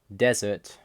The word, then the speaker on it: dessert: English we emphasize syllables for example desert desert the only difference in pronunciation is which part you emphasize in Russian however they